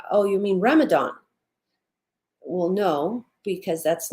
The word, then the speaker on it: Ramadan: a DNA whichever way it's still pronounced Ramadan as if it were a th that is the proper